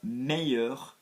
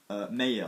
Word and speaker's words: meilleur: with one syllable yeah and if you are saying best which is one syllable in French you are going to go with two syllables mayor so to become one